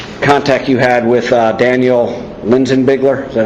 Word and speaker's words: Linsinbigler: Okay, Rod, basically just take me through from the very beginning contact you had with Daniel Linsinbigler.